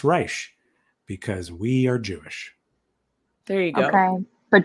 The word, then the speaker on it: Reich: tock at sam underscore that's reich but it's pronounced reich because we are jewish but don't be complaining